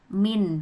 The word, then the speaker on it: mean: Masuk yang pertama, rata-rata atau biasanya kita sebut dengan mean atau bacanya bukan mean tapi min gitu.